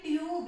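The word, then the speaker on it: tube: Consonant sound आता है, यू के बाद जब भी कोई कॉन्सोनेंट साउंड आता है और उसके जस्ट बाद ई लिखा हुआ हो तो हमेशा इसका साउंड यू ही निकलता है। जैसे आप देखोगे यहाँ पे भी ई और यहाँ पे भी यू, और बीच में है कॉन्सोनेंट साउंड बी, तो यहाँ पे ट्यूब, इसको क्या पढ़ेंगे हम ट्यूब।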